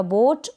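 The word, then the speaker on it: boat: correct कर देंगे ओ कर देंगे और टी को ट रीड कर देंगे तो ये बन गया बोट मतलब कि नाउ फिर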